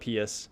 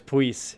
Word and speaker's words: Pius: Also, I think his name's pronounced like Pius or no, it's something weird. So I was way off of my pronunciation. Like, it's not Pius, but Puis? Yeah, it was Puis.